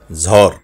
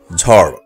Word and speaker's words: ঝড়: আমরা অনেকেই বলে থাকি ঝড় কিংবা ঝড় এখন থেকে সঠিক উচ্চারণ করে বলবো ঝড় ড বিন্দু র এর ব্যবহার রয়েছে ঝড় সঠিক উচ্চারণ ফুল